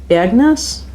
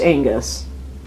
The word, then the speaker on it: Angus: Oh yeah, it is pronounced Angus. Like the guy from AC/DC.